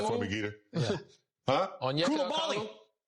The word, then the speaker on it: Onyeka Okongwu: Pronounce that for me, Geeter. Yeah. Huh? Onyeka Okongwu. Onyeka Okongwu.